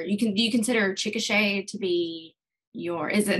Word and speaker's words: Chickasha: that you were you can do you consider chickasha to be your is it and did i pronounce that right yeah you did good job